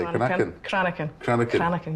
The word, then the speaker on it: Cranachan: Cranachan. Cranachan. You need the Scottish. You need to be able to roll your R's.